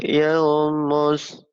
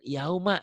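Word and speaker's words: الْيَوْمَ: Humul yauma, bukan yaumu, ayo.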